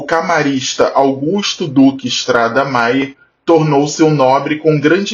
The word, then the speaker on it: Méier: conta disso a região ficou conhecida como Mayer pronúncia original tempos depois os moradores aportuguesar o nome para meer a partir da segunda